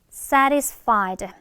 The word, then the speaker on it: satisfied: satisfied. 한 번 더. say가 아니라 satisfied 인데 사실 또 중간에 t가 있잖아. 얘는 r로 많이 약화가 되거든.